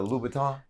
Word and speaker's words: Louboutin: did I say his name right is it Louboutin because last night correct because last night Tiffany